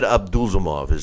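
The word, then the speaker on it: Abdusalamov: It's Magomed Abdulzamov is how you say his name.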